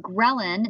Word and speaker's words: ghrelin: you start to feel better almost immediately um ghrelin is how you pronounce this one ghrelin is a hormone called